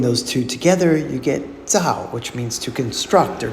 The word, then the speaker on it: 糙: Our final character today is fourth tone Tsao. It has 17 strokes and it means rough or coarse. Tsao mi, unpolished rice. As you just heard, this character can also be pronounced in the first tone.